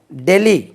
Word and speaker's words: Delhi: தென் டெல்லி, கொஞ்சம் கவனிங்க, இது DELHI. இதுக்கு நம்ம தமிழில் எப்படி உச்சரிக்கணும்னா உச்சரிப்பு டெல்லி என்று உச்சரிக்கணும்.